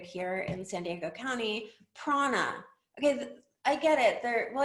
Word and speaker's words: prAna: Okay, look, when I first saw this name, I thought it was PR Anna, like a PR executive named Anna. And it's not, it's Prana.